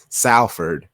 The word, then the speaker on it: Salford: Shout out to the homie Maddie, and then during the review, Danny, they let me know it is Salford, but it's pronounced Salford, SOL.